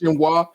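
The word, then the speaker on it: génoise: I know it's Jinwa and I'm like the Brits in their hatred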